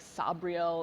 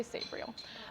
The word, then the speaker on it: Sabriel: Some, people say it's like Sabriel, like the pronunciation of that. I say Sabriel.